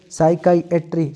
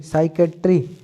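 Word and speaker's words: psychiatry: साइकाइएट्री, साइकेट्री, साइकेट्री, साइकेट्री या साइकाइएट्री। इसके हिसाब से देखिए साइकाइएट्री, साइकाइएट्री या साइकेट्री, साइकाइएट्री, साइकेट्री, साइकाइएट्री, साइकेट्री, ठीक है। आपको जो उचित लगे वो आप प्रोनाउंस करना है, ठीक है।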